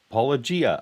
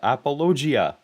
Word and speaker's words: Paulogia: years ago and they called it apologia with a yeah Gia apologia apologia that's why I say it that way apologetics so he's he's apologizing for being mixed up by the correct way of saying my name and and and reverting to going wrong this is just bizarre J sound for the G and so I it